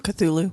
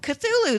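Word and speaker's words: Cthulhu: do you do you guys know how to pronounce c h u t u l u chulu cthulu cthulu thank you so much I knew that I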